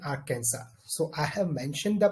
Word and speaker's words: Arkansas: Illinois as well as Arkansas s is silent in Arkansas so I have mentioned